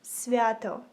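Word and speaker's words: свято: this word in Ukrainian you would say it like svato and yeah that's it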